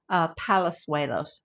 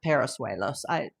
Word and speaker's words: Palazuelos: It's Carlos Palazuelos, not Parasuelos.